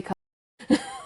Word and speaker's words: Katia: That's going to be the the bite that I take from this podcast is everyone, this is how you say Katia.